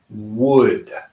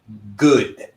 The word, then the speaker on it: would: so repeat after me wood okay there are many people many people who say the word good good as in Buena Bueno right however the G sound is not correct with this word we need to use